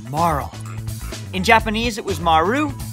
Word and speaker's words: Marle: and yes it's pronounced Marl in Japanese it was Maru which leads to Marl which sounds sort of like how you'd end the name Carl no it's not Marley just no anyways back